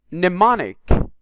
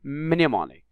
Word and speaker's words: mnemonic: busyness knife not knife mnemonic not minimonic you can notice it